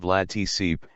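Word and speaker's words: Vlad Țepeș: He was posthumously dubbed Vlad the Impaler, Romanian, Vlad Ep, pronounced Vlad Tsip, and was a three-time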